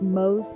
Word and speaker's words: Mose: History knows it as Fort Mose. Pronounced Mose.